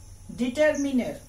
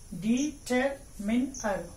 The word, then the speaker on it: determiner: But when you should pronounce it as a noun, you should say determiner. I have syllabicated the word determiner.